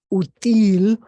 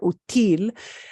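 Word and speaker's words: útil: an accent mark there so that people know you don't pronounce it util util it's not util if you said util it would be like you're saying easy that is an easy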